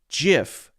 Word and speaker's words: GIF: me read that again it is a soft G pronounced Jif end of story and then it goes